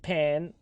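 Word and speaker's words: パン: Did you know the Japanese word for bread pronounced pan comes from Portuguese pow?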